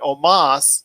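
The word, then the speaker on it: Omos: was aj styles and omas even though it's spelled almost it's omas uh defeated kofi kingston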